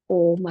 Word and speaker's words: ओम: ्यामध्ये तीन अक्षर आहेत आकार उकार आणि मकार यामधून पूर्ण ओंकाराच उच्चारण केलं जातं आकार आहे तिथं ओट आपले विलग होतात आणि अ चा उच्चार केला जातो अ चा उच्चार करताना आपल्याला दोनच सेकंद करायचे त्यानंतर उचा उच्चार म्हणजे ओट आहे ते थोडासा चंबू सारखा करतो ओम असं आणि त्यावेळी तीन तीन